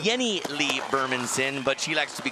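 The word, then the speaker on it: Jennie-Lee Burmansson: go to a fifteen year old now it's pronounced Jenny Lieberman's in but she likes to be called Jenny Lee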